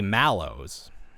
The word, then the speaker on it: Mallows: pronounce the product Squishmallows, because in America it's like, it originates from marshmallow, and we say mellow even though there's an A. Like a lot of the times the way that Americans pronounce things doesn't make any sense. But you respect the A.